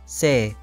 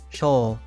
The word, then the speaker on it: 生: Today's kanji is life, pronounced sei, sho.